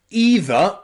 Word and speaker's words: either: Number 4, the letters E and I can sometimes be pronounced both E or I. So look at words like either and neither. Either and neither. Here, E and I is pronounced E and E.